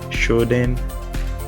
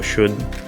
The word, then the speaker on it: Shodan: So when it comes to that search engine, some people pronounce it like Shodan or Shodan. So whatever works for you is fine.